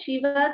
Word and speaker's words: शिव: So one is sh as in Shiva. If you take the same example here, see here this is a Shiva Kameshwarankastha Shiva.